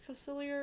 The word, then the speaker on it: Facilier: character design is giving me how do you pronounce Dr Phyllis here facilier oh yeah yeah everyone seems to be saying